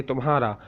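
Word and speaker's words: تمہارا: If you are talking to your friends, so you have to say tumhara. So te mim he alif re alif. Te mim tum he alif ha. Tumha re alif ra. Tumhara.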